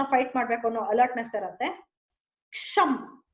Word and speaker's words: ಕ್ಷಮ್: ಕ್ಷಮ್, KSHAM, ಕ್ಷಮ್ ಕ್ಷಮ್ ಕ್ಷಮ್ ಕ್ಷಮ್. This is how you have to pronounce.